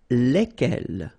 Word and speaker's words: lesquels: And it will give you the pronunciation lesquels, all right? So final S is not pronounced.